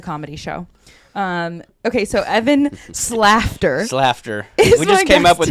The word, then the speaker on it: Slaughter: Okay, so Evan Slafter. We just came up with that now. Claire came up with that now. So you said it's laughter with laughter an S. with an S.